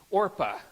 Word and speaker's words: Orpah: These women's names are Ruth and, I always mispronounce it, Orpah. And if I say Oprah today, this is a little known fact, but Oprah Winfrey, her birth name was Orpah.